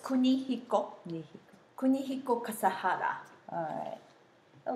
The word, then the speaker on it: Kunihiko: yeah but you say you have to say four syllables Kunihiko me Kunihiko Kasahara alright